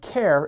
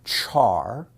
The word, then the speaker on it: char: in Java the typee care is a primitive type like int Boolean and double some people pronounce it Char some people pronounce it car and some people say care but everyone says the